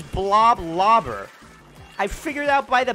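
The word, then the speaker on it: Bloblobber: you pronounced that weapon I thought it was just blah blah blur it's blob lobber I figured out by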